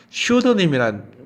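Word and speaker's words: pseudonym: 이번엔 또 중요한 단어가요, 슈드님이라는 말이 있어요. 그때 슈드를 할 때 P는 발음이 안 돼요.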